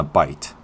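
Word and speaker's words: bight: here, I put a figure 8 on a bite. Bite is spelled B-I-G-H-T, and what bite means is just a loop.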